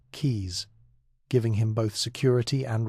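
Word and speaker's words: Caius: He became a fellow of Goneville and Kais College in Cambridge, pronounce it keys, giving him both security and resources.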